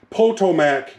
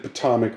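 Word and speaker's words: Potomac: at these gorgeous Passenger cars Richmond Fredericksburg and poto MAAC and the reason I say that is because somebody's going to give me a hard time cuz I said patomic wrong it's pronounced this okay nice nice set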